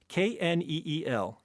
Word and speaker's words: kneel: Kneel, Neil. Raspberry answer. Silent Right. letters. Yes, silent letters.